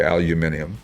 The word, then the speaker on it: aluminum: just a nicely done tribute it's got the aluminum heads or as the British say aluminium uhhuh and uh the 12volt rear and it's